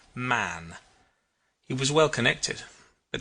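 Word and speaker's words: Mahon: He had a Roman nose, a snow white long beard, and his name was Mahan. but he insisted that it should be pronounced man.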